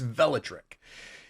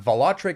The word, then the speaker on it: Velotric: tech review velotric okay so it's velatrick it's not volatric it's not velotric um they told me